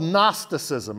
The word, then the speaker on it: gnosticism: opposite it was called gnosticism it starts with a g silent g gnostics or gnosticism and the gnostics believe